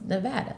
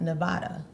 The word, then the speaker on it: Nevada: just so you know here our state is pronounced Nevada not Nevada I like Nevada she went off on somebody